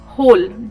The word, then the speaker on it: whole: एक वर्ड होता है होल जिसमें कि W लगा होता है, सेम प्रोनाउंसिएशन होता है उसका. That word is होल, WHOLE, right.